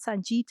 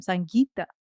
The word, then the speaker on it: Sangita: I'm like, "I'm not Sangeeta, I'm Sangita. There's a difference."